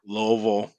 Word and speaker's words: Louisville: Louisville Louisville I mean there's loville everybody that lives here pretty much says Louisville even though it ain't spelled nothing like that it's spelled Lewisville you don't say that though I'm I'm GNA put